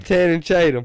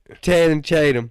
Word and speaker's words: Channing Tatum: How you say his name? Channing Tatum. Is that it? What? Channing Tatum.